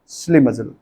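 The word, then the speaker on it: schlimazel: श्लिमिजल व्यक्ति बोलता है पनौती, श्लिमिजल। इसका राइट प्रोनाउंसिएशन होता है श्लिमिजल।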